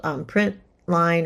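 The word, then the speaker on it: println: You'll hear it called print line or print lin. It's you'll hear different people kind of pronounce it differently.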